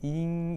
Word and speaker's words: 賏: 경제를 만나는 자들을 보면 대부분이 이와 같이 0 이라고 하거나 앵 발음이 되는데 중국어 발음으로는 잉 이라고 해서 성조 도 똑같이 일성으로 잉 이라고 발음을 하고 있습니다 목 장력 여자아이들이 머리에다